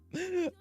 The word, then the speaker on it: Mio: Pronunciations. Mio memories in orbit.